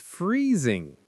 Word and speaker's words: freezing: The water in the ocean is freezing. Example number three. My hands are freezing. Listeners, please repeat. Freezing. Make the Z sound. Freezing.